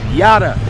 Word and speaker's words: Judah: It's yada yo yada like Idaho, like Utah. Yada.